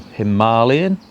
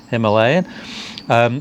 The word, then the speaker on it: Himalayan: What we were originally going to do was test a 410 Himalayan, or Himalayan, depends on how you want to pronounce it. I'll be pronouncing it Himalayan.